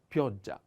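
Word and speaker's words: pioggia: the next is uh the accent on o and pay attention to this double consonant sound is a little strong ja pyoja pyoja is a female noun like neve and means rain okay then vento vento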